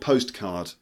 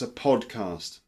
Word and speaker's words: podcast: pod car podcast not postcard so that's a postcard that's a well that's a podcast alright so it's Luke's English podcast not postcard not pot card not podcast or pot cat it's a podcast alright cool so if